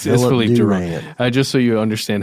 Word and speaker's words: Philippe Durand: I think it's Philip Durant. It's Philip. I'm just joking. It's Philippe Durand.